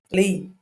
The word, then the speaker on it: Les: I always call him Les. He know that it was Lee.